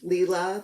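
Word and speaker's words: Lila: welcome by leela's studio i'm sorry leela that i have mispronounced your name like everybody else it's leela and this is a quakers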